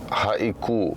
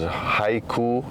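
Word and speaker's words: Haʻikū: this one is haiku often mispronounced as Hau obviously just cuz the spelling is the exact same uh we didn't plan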